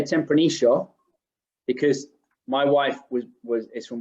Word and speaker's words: Tempranillo: so I'm a porteño, and we go sh with the double L. In Mendoza, they're a bit closer to the Spanish pronunciation. They do Tempranillo, so there are some.